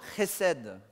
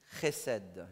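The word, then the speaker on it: חסד: Et le C-H, ben, il faut savoir parler un peu hébreu ou arabe, parce que c'est là-dedans, quoi.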